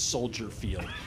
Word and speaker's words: Soldier Field: okay uh for example it's not Soldiers Field it's Soldier Field it's not Millennial Park